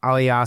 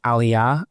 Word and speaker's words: Aliyah: out to me that I continuously say Aliyah as opposed to Aliyah. I keep saying it wrong, so I'm going